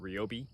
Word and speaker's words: Ryobi: to return our our is it ryobi it is i've been saying it wrong for the last like five years i just corrected me and